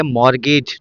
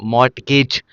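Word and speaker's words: mortgage: एम ओ आर टी जी ए जी ई ये होता है मॉर्गेज नॉट मगेज ठीक है ये बात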